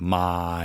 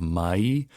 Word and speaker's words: mai: People say my instead of mai. Always make sure you try and get the E smile in there so that you're saying mai, mai, mai.